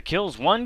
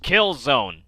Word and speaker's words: Killzone: remove the hdcp I know it's pronounced Kill Zone stop bitching sarcastic for